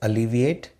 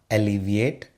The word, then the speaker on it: alleviate: It is pronounced as alleviate and not alleviate.